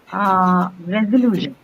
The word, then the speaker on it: resolution: There is a suffix there, yes, and hence the stress is on. Lu. So resolution, it's going to be on the penultimate syllable, which is the syllable right before the suffix.